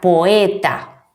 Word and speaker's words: poeta: pertenecer a sílabas diferentes Como por ejemplo la palabra poeta Sí estas esta palabra une dos vocales fuertes pero deben pronunciarse en sílabas diferentes bien hasta aquí hemos